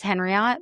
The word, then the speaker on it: Henriot: It's Henriot but I tell everybody it's like Marriott.